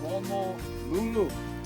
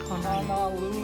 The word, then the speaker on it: Honolulu: And the capital of our state is Honolulu, not Honolulu. Oh, Honolulu. Local folks mispronounce. I know sometimes when we say H-O-N, we have a tendency to say Han, right?